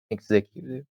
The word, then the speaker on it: executive: we added yesterday right execute it's s execute but executive is z executive uh okay we added